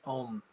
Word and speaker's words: Om: It has one syllable, which is Om, and there's one pitch.